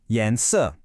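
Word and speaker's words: 颜色: The word for color is yens, pronounced yansu.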